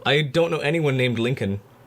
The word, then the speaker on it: Lincoln: I mean, to be fair, link Lincoln is not spelled the way it's it's said.